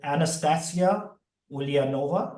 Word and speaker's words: Anastasia Ulianova: I'm fortunate to kick off this show today with Anastasia Ulianova.